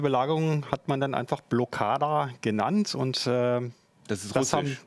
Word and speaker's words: Blokada: Blockada? Ah, du hast das schon ganz gut gemacht. Also 1+ mit Sternchen. Blockada passt.